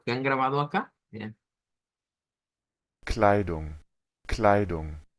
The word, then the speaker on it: Kleidung: Kleidung, Kleidung, Está claro el sonido de la AI y de esa U corta. Kleidung, Y al final, una NG. No es como una N, es una NG. Eso se parece mucho al inglés, ¿verdad? Es bastante parecido al inglés, en donde obtenemos ese sonido de de NG.